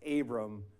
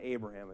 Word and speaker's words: Abram: It's Abram, not Abraham at this point, right? And by the way, does anybody know what the word Abram means? Oh, good. Yeah, after you get the definition of Abram.